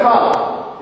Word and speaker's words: choler: It's pronounced choler or choler.